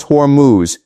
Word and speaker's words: Hormuz: Keshum sits in the mouth of the straight of Hormuz pronounced Hormuz.